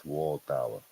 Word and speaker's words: Waldauer: Miss Waldauer, that's how you say her name, Miss Waldauer.